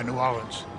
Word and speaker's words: New Orleans: No, New Orleans. New Orleans. Yeah, we don't say Ains.